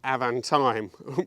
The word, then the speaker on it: Avantime: the owner has just told me the correct pronunciation is actually avantime which is a good thing so let's have